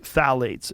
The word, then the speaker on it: phthalates: And when the introduction of phthalates, it starts with a P, P-T-H-A-L-A-T-E-S, I think it's how you spell it. You say phthalates.